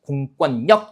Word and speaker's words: 공권력: 그래서 역시 니은 받침으로 끝나는 몇 음절, 이음절 한자 뒤에 리을로 시작하는 말이 왔기 때문에 이때는 유음화가 아니라 뭐가 일어나는 거예요? 비음화가 일어나가지고요. 공권력이 아니라 뭡니까? 공권력 이렇게 발음이 되는 겁니다.